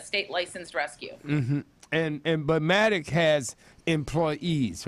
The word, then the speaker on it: MADACC: It's Maddox, MADACC.